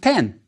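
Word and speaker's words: pn: Now, the masculine form of this is the rectangular reed mat and the water sign, pronounced pen.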